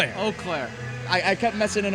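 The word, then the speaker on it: Eau Claire: I'm going to mispronounce the college. I believe it's Uclair. Oaklair. Oaklair.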